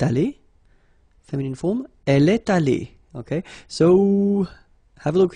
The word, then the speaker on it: allée: You don't pronounce it, so you get elle est allée, and then for the masculine form, il est allé. So allé is pronounced the same way.